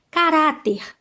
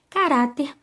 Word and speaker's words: caráter: produto próximo a palavra caráter caráter a penúltima sílaba aí é orar né bom o som é aberto na gente só caráter